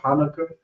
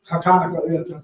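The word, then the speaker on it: Hanukkah: call it Kana or Hanukah hak but the proper way to say it is hak which stands from kanak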